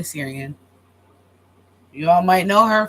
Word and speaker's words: Syrian: I learned it from Bailey Bailey Sarah no I was saying her name wrong but Bailey Syrian you all might know